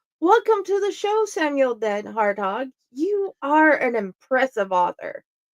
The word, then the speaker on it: DenHartog: types of books welcome to the show Samuel dead harthog you are an impressive author thanks Jenny U